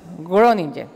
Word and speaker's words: Groningen: Yo le pregunté si se pronunciaba así, Groningen.